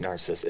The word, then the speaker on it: Narcissa: I would say just Narcissa. It's spelled like Narcissa.